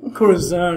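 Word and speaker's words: Corazón: And I'll tell you what, I like your pronunciation. It's better than mine. Corazon as opposed to Corazon. That's getting it done. I'm anglicizing things.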